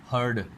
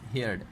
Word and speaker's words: heard: To tell you that mostly students pronounce this word as हर्ड. That word is नॉट हर्ड. हर्ड basically means रेवड़, यानी कि HERD हर्ड. You will have to pronounce that word as हेयर्ड. HEARD हेयर्ड, सुनना.